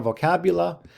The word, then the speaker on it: vocabula: Okay, so here we have our vocabula. Remember, classical Latin didn't have a U, so sometimes that's what the V is here, but of course in English we would say it's pronounced like a U, vocabula.